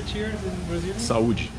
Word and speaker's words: Saúde: Saúde. Saúde.